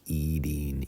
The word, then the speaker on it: eating: in American English that even though it has a t pronounced with a d eating eating he was eating dinner